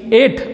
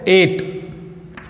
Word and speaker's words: ate: By the same way, it, ate, see the pronunciation, EIGHT, ate म्हणजे 8 याप्रमाणे याचा उच्चार करायचा आहे, ate.